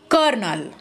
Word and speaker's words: colonel: The spelling is here colonel, but it is pronounced as a kernel.